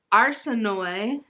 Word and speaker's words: Arsinoe: I'm glad I listened to this on audio because the names are pronounced different than they look. Like, so we have Katerine, but it's spelled like Catherine. And then Arsinoe, which it's spelled like Arsino.